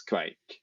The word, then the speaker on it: kveik: But in some places in Norway, the dialect word for yeast was kveik.